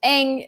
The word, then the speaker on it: Aang: the last airbender but they did technically pronounce aang's name right it should be um but uh you know eng it's fine i'm i'm not gonna